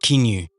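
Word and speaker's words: caoineadh: The banshee's origins are heavily interwoven with traditional Irish morning customs, particularly the practice of keening, pronounced kinu in Irish.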